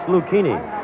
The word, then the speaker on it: Lucchini: Lucchini is spelled L-U-C-H-I-N-I. He said it's Lucchini.